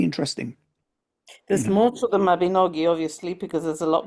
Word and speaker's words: Mabinogi: And because I I got into the second half of the last Mabin I I can't remember how to pronounce it. Mabinogi.